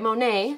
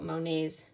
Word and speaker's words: Monet: you want to write monet so that you know who the artist was that we talked about m o n e and then there is a silent t at the back m o n e